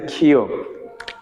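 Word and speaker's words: 키읔: খিয়ক। খিওক। তাহলে দেখেন খিয়কের উচ্চারণ হবে কার মতো? খর মতো।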